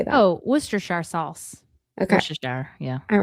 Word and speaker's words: Worcestershire: Oh, Worcestershire sauce. Okay. Worcestershire, yeah. All right. You know what she said? She said she needed some horse your sister sauce.